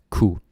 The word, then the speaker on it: kunne: And of course, kunne gets pronounced as ku.